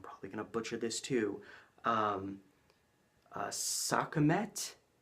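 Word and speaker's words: Sekhmet: gonna butcher this too sokka met if I'm saying that right I'm probably not but it is spelled have to look at my notes se KH m ET maybe the H is silent its segment I don't know but segment was an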